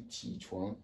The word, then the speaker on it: 起床: Comment ça s'écrit, ou du moins, comment ça se dit? Ça se dit ti chuan, c'est déjà au tableau, ok?